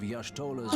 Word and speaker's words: Y'shtola: The significance of Y'shtola's Why readings did might better be he understood in pronounce the context Ishtola's of name my like that?